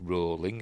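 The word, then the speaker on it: Rowling: series JK rolling wrote yes it's rolling as in rhymes with bowling and showrunner Francesca Gardner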